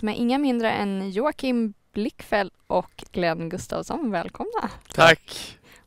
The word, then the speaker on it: Blichfeld: Vi diskuterade det här precis innan, hur du uttalar ditt efternamn, och det visar sig att alla har sagt fel en hel säsong. Ja, men det på danska är det Blickfeldt.